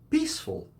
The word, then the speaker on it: peaceful: at this one peaceful peaceful has two syllables peace full the letter e in the mirror is not pronounced so it's not part of any syllable small towns are more